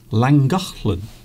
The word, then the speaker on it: Llangollen: Oh, that sign says Llangollen. Llangollen, which is the pronunciation of the place that you can see now on your screen.